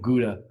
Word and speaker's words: Gouda: And John loves his, I'm not going to say the American pronunciation. I will use the Dutch pronunciation, Gouda cheese. I've been told that's the correct pronunciation of Gouda.